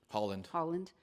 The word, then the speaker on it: Haaland: She is out with the New Mexico gubernatorial candidate, Deb Haaland. Am I pronouncing her name right? Holland, okay.